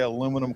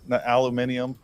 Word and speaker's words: aluminum: in a little bit make you say aluminum correctly aluminium add all kinds of different uh syllables that are not needed syllables there you guys chopped them off okay we don't need to